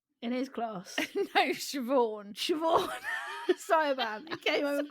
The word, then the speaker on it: Siobhan: And I went, no, you actually pronounce that Siobhan.